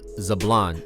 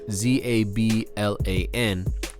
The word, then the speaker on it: Zablan: And Zubland, if you Google it, there's two different ways that it's spelt. The way we name the song, it's Zubland, Okay. Zubland. The beach is actually named Zablan, Zablan, and it's named after the family that lived right there